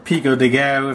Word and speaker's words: Pico de Gallo: I already got this guacamole and some Pico De Gallo. Or Pico De Gallo, if you happen to want to be saying it correctly.